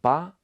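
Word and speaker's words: 八: It's pronounced as ba, which really similar to Chinese character getting rich, fa.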